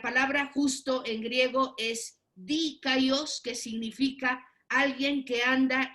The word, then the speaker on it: dikaios: Entonces tenemos esta palabra primero, hermanos, a ver si la alcanzan a ver, es la palabra dikaios, porque tiene como acento en la I, dikaios.